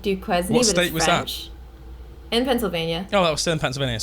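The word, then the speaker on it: Duquesne: I haven't it's called dukee University it's spelled D du q e s n e it's like Duke quen in Pennsylvania oh that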